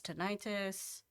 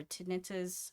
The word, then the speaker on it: tinnitus: He has tinnitus or tinnitus, however you want to pronounce it.